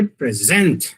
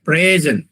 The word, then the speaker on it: present: meaning distinguishable English I present him a present. So there are two present P R E S E N T. When the stress is on the second syllable, it is a verb.